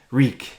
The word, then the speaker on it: Reek: what's your name oh it's reek it rhymes with cheek my name's wait greek